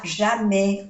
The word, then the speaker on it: jamais: Il ne va jamais au cinéma. Il ne va jamais. Entonces se pronuncia así, jamais. No se pronuncia la S.